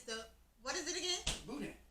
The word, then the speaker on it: boudin: You just get it, put it in your bag, tell them you got a boudin, $1, and you roll with that.